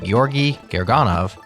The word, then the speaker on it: Georgy Gerganov: We are talking Whisper.cpp and Llama.cpp with Georgy Gerganov, yes, I've been saying it wrong the whole time, on Wednesday's interview show.